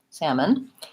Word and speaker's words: salmon: is the upside-down e schwa in this word salmon for syllable stress long and short so I won't